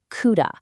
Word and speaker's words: CUDA: Now, to unlock all that raw power, the project uses a platform from Nvidia called CUDA, and that's pronounced CUDA.